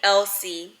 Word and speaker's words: LC: how she spells it and that's how she pronounces it so 17-year-old Megan meets a new friend named LC LC not LC like e l s i